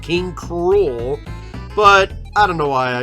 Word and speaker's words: King K. Rool: the way I pronounce King K rule too cuz I know I know it's supposed to be pronounced King Cru but I don't know